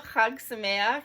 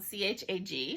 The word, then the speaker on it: chag: beginning of the video hugs in English is spelled c-h-a-g so when you see that and don't know how to pronounce it it's not chag it's hug um and samayak ends with